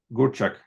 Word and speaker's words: Gurczak: Today it is my pleasure and a privilege to welcome Gurczak. Am I pronouncing it correctly? You are. You actually said it perfectly.